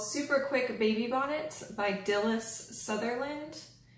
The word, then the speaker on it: Dilys: It was called Super Quick Baby Bonnet by Dilys Sutherland. And that first name is D-I-L-Y-S. I believe it's pronounced Dilys.